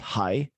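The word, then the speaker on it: 係: Like the Guanxi in this Xi, for instance, it's pronounced hai, and it means to be in Cantonese.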